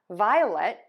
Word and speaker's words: violet: Now for violet, we're going to end with lut.